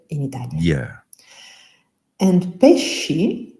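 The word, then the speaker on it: pesci: And pes spelled p e s c i is the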